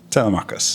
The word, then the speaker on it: Telemachus: How do you pronounce his name? Telemachus. Yeah, Telemachus.